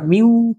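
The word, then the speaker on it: μ: এফ এস কি লিখতেছিলাম, মিউ এস আর, অথবা এফ কে, এটা মিউ কে আর, তোমরা লিখে রাখো এটার উচ্চারণ হচ্ছে মিউ, ঠিক আছে, এটা উচ্চারণ হচ্ছে মিউ, এটা বিড়াল লাগছে।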